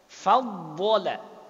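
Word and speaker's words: فضّل: Faddola. Dod bertasydid. Maka kan harusnya kan bacanya kan faddola.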